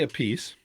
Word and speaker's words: Appice: last name he says his answer was I can't help you he said he said because I say a piece but he said my